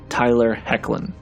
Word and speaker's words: Tyler Hoechlin: we next jump to the worst suit that Tyler hoechlin wore in Super Girl and yes that is how you pronounce his name Tyler hoechlin this suit is a clear take and draws